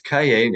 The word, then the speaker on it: Cailler: And ironically, which is kind of a funny thing for a writer, is Cailler with a different spelling, but exact same pronunciation means notebook.